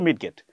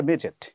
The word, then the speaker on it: midget: আমি পড়েছি কিন্তু মিডগেট। কিন্তু নিয়মটা যখন জানলাম যে ডি এর পরে যদি জি থাকে তাহলেডি এর উচ্চারণ হবে না। পরে বুঝলাম এটা মেজেট।